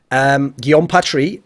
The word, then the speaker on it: Guillaume Patry: It was won by the French-Canadian, that's how you pronounce his name, Guillaume Patry, guy I've done interviews with.